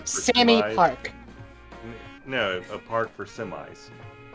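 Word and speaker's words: Sammy Pak: they pronounce it SE it's not semi pack semi pack she she says call me Sammy semi Park like Sammy Park no a park for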